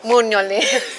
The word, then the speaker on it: Mugnoli: Mugnoli.